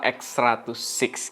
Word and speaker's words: X100VI: fujif film X100 VII atau dibacanya V mungkin ya tapi yang gua dengar sih bacanya yang benar adalah x106 gitu ya Dan kita bakal